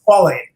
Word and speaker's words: squalane: Squalane.